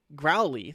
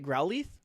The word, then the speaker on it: Growlithe: Hisuian Growlithe? Say that name again. Growlithe? The TH is really soft. Say and it I again. Growlithe. Wrong. Oh yeah? How do you say it? It's Growlithe.